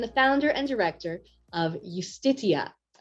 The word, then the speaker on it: Justitia: He is a Danish lawyer, human rights advocate, and the founder and director of Justitia, or Justitia, maybe is the Danish pronunciation.